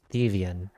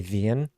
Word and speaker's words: Thievian: So the YouTube name is Thievian. I've noticed in the past, a lot of people call me Vian. That's not it.